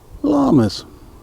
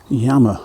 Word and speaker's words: llama: call them llamas and the correct pronunciation he's nothing of the sort like that yama or something like that ee l spanish word or Inca word Danna Soto's that one